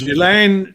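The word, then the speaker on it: Ghislaine: Gilain Gilain Maxwell and Virginia Zurey.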